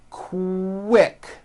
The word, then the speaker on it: quick: So, for example, the word quick is pronounced with a K and a strong W sound. Quick, like that.